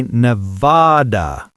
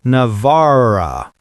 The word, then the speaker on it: Nevada: Locals say Nevada, not Navara.